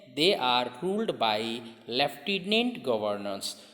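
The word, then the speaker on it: lieutenant: हूं लेकिन वो डी इसको रीड कैसे करना है लेफ्टिनेंट करना है ठीक है शॉर्ट में हम लोग रिलेटिव होते हैं या फिर ऐसे ए लिटिल कमेंट यह स्पेलिंग है ठीक है तो माइंड में ड्यूटी नहीं रखना है लेकिन वर्ड पढ़ना कैसे हैं लेफ्टिनेंट है तो लेकिन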